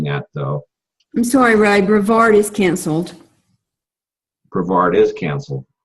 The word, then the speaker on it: Brevard: Brevard.